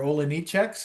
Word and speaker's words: Olejniczak: You guys are Olejniczaks? No, we're Olejniczaks. Yeah. You're like spelled, and they'd spell it, and you're like, yeah. The Polish way to say it is Olejniczak.